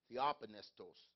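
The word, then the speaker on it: theopneustos: that tells us and i'm gonna try to pronounce this uh it's theophanist t-h-e-o-p-n-e-u-s-t-o-s t-o-s the open estos that's close all scripture but this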